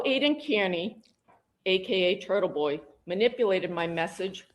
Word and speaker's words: Kearney: Aiden's last name is pronounced Kearney. Kearney. It's not hard. It's Kearney.